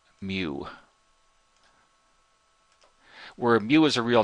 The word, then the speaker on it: mu: asked if y equal mu to the^ of T and mu is a Greek letter if you haven't heard it before it's it's pronounced like a cow mu where mu is a